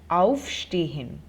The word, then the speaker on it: aufstehen: So if you could hear and notice the pronunciation, the emphasis is on the prefix, on auf, aufstehen.